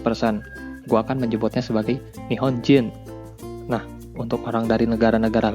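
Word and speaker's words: 日本人: Jepang atau Japanese persen gua akan menyebutnya sebagai nihon jin Nah untuk orang dari negara-negara lainnya gua akan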